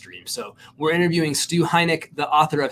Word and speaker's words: Heinecke: Chenault it's Adrian Chenault and it is Stu Heineken no heinecke no heinek Stu heineck that's how you say